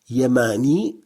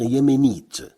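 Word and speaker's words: يماني: Yamani, ça veut dire yéménite. Yamani, qu'on peut prononcer aussi yéméni, mais c'est une forme traditionnelle. Yamani s'écrit ainsi et se prononce Yamani.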